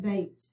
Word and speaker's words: bait: Let's look at bait. We have a long A sound, but we have an AI vowel combination, so let's underline it.